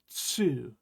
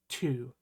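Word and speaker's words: つ: So this character is actually tsu, not tu. It's like a TSU sound all pushed into one. Tsu.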